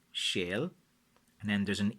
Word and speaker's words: sail: Like how you spell it in Irish language is Sail, which is shale, shale, and then there's an e and a line above it fada ille, which is Éile or Éile, depending.